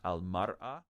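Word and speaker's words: المرأة: Al-imra'a is a woman. It's often pronounced al-mar'a.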